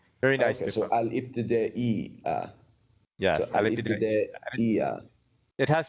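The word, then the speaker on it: الابتدائية: Isn't it ibtida'i? Yeah, third from last letter, that's your hamza. That's just a simple glottal stop. So Okay. al-ibtida'iyya. Very nice. Okay, so al-ibtida'iyya.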